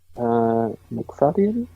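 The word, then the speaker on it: Macfadyen: How do you pronounce that? I'm sorry, McFadden. It's McFadden. McFadden.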